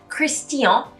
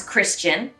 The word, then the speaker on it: Christian: definitely a complicated one christian becomes christian normally in english there's a lot of this chin coming out and when you say it with the french accent you really need to pronounce the t it becomes tia so christian and then